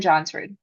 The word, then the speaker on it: Johnsrud: obsessed with Johnsrud, Jillian Johnsrud.